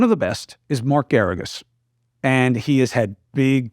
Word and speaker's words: Geragos: Counselor Mark Geragos rhymes with asparagus.